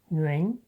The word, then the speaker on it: Nguyễn: Let’s try another one: 阮 This is actually the most common Vietnamese surname, pronounced Nguyễn in Vietnamese.